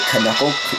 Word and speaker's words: knuckle: So I say Knuckle to know that there's a K in it. I actually do that with a lot of words, like Knob, Knife. Like, you know, the silent Ks, the silent letters.